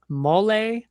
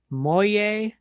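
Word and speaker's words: molle: I hear people say skyness. People say mole, moye, or mall. Skyness mall, shyness moye, however you want to pronounce it is fine.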